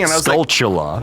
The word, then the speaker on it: Skulltula: Skulltula? I heard something from one of our loyal basement It could be fans. chula, like tarantula. That's what they were saying, and I was Skulltula.